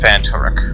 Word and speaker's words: Phantaruk: Okay, so the game's pronounced Phantaruk.